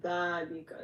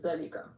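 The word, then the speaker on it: ذَٰلِكَ: So when you read it, you're gonna stretch the zal one. How do I say it? So you're gonna basically one alif. So you're gonna say dhalika instead of zalika.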